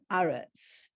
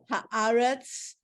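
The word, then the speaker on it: הארץ: Haaretz and then Eretz Yisrael, for Yeah, example? Because what Eretz is the word, but when you add the in front, it becomes Aretz. We talk about Haaretz.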